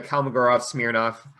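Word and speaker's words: Kolmogorov–Smirnov: that in general because it's still using the kalmagorov smirnoff i said it right this time test um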